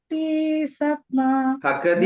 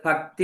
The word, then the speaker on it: ഭഗതി: പ്രിയ മാതാജി ഹരേകൃഷ്ണ ശ്രീഗുരു ചരണ പത്മ കേവലഭക്തിസമ ഭഗതി എന്ന് പറയണേ അത് ഭക്തി എന്ന് പറഞ്ഞില്ല ഭഗതി എന്നാണ് നമ്മൾ ബംഗാളിൽ ഉച്ചാരണം പറയുമ്പോൾ പറയുന്നത് ശ്രീഗുരുചരണ പദമ കേവല ഭഗതി